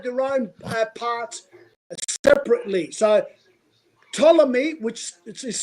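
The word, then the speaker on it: Ptolemy: So Tommy, which is spelled P T O L E M Y.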